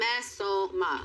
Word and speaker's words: Mesoma: But anyway, It's not even how you say it. Mesoma. Thank you. Mesoma.